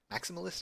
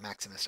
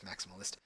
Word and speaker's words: maximalist: go for the maximalist maximalist I think it's how you say it it's not Maximus I'm pretty sure it's maximalist where you try to